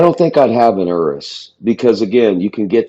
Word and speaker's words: Urus: It's uh that's how you pronounce it, Urus.